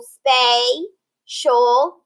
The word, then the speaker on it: spatial: vowel behind it, and that T-I-A-L, shul, is going to be in a syllable all on its own. Now we have vowel A. It's going to be long because it ends that word or syllable. So we have the first syllable, spatial, spatial, okay?